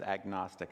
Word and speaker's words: agnostic: It's referring to knowledge, and when we put the A in front of it, we pronounce the G, and so it become instead of agnostic, it becomes agnostic, and that's where we get that word from.